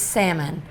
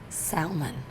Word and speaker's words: salmon: by now but um the l is silent it's salmon not salmon how do you say